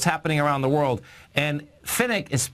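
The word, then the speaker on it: Pfennig: And Finnick is spelled P-F-E-N-N-I-G.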